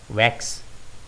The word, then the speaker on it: vax: இதை நாம் வேக்ஸ் என்று உச்சரிக்க வேண்டும்.